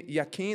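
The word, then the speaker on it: Jachin: He set up the pillar on the south and called its name Yaim. That's the Hebrew pronunciation.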